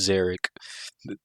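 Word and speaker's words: Szarekh: Osiris not even close it's zerich was that two on the nose uh no just it's the zerkin Dynasty and the name of the final silent King was zerich oh my God uh also zerich spelled s z a r e k h so there's going to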